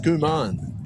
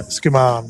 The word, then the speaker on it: Skuman: So it's pronounced Skuman, is it? Yeah, Skuman, yep. Wow.